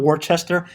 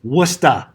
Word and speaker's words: Worcester: and can somebody name another city again folks pronounce worcester for all the international students it's not worchester it's worcester all right what's the latitude 2626 negative eight